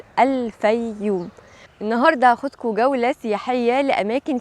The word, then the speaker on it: الفيوم: من 44 مليون سنه اتحرف اسمها في العصر اليوناني الروماني ل بايوم وبعد كده مع دخول القبطيه مصر اتحرف اسمها من بايوم لفوم لان كانت ال ب بتتنطق ف وبعد دخول العرب مصر حرفوها اكتر وحطوا الالف واللام وبقت وبقت وبقت الفييوم النهارده هاخدك جوله سحيه